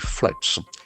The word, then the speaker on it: flood: Recovered after utashi floods.